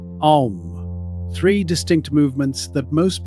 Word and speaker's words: Om: It begins deep in the body as an open A, the mouth wide, the sound rising from somewhere near the belly. It rounds forward into U, the lips gathering, the sound moving up through the chest. It closes into M, the lips sealed, the sound humming in the skull and the bones of the face until it fades. A, then U, then M. Om.